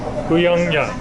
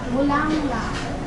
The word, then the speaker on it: Bulanglang: Bulanglang. Bulanglang.